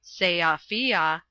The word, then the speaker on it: Sofia: was last in Sofia, by the way it is pronounced Seafia, talking with Radovich, or